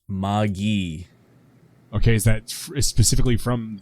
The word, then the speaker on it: Magi: in your fans much it is a hard g and a short eye what it's pronounced maggie okay is that specifically